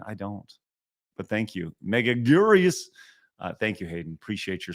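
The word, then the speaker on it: Megaguirus: But thank you, Megaguras. Thank you, Hayden. Appreciate your support, my dude. Godzilla's Grecia says it's pronounced Megagirus.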